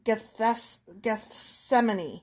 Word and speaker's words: Gethsemane: Pronunciation. Gethsemane.